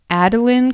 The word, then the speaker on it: Adolin: about the character of Adolin Kholin, and we are definitely probably pronouncing his name wrong. It is almost definitely Adolin. I'd say it's definitely Adolin, but we've both been saying Adolin this whole time and only